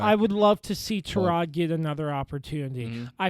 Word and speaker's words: Tyrod: Right now, it appears like it's going to be Tyrod or Tyrod Taylor, however he Tyrod.